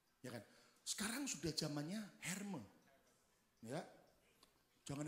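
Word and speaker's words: Hermès: kan sekarang sudah zamannya herme ya jangan Hermes kampungan Bacanya jangan Hermes kampungan yang betul-betul herme katanya semua katan 2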